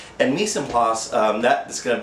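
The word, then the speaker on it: mise en place: they're spending time uh more quality me PL that's spelled m i s e e n p l a c e and Mis and plas um that is going to be one of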